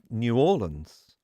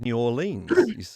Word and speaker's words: New Orleans: away to pronunciation again you said new orleans whereas i would have said new orleans and you're not alone there are many correct pronunciations of new orleans and one of them is new orleans one of them is